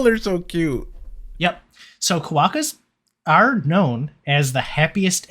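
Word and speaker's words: quokka: are and let's move on uh to the koaka um apparently that's how it's pronounced i did i have no idea what this is if i see the word i i say kuoka but apparently that's like a north american thing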